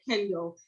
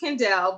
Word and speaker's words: Kendell: all my whole life people have said kendall and it's kandel but people have said